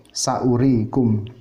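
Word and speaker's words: سَأُورِيكُمْ: Kemudian yang tambahan waw, misalnya saurikum ayati, saurikum, di situ wawnya waw tambahan, dibacanya tetap pendek, saurikum.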